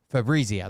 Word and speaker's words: Fabrizio: it I just said it the night Fabo Fabrizio that's right assured president Trump that President Biden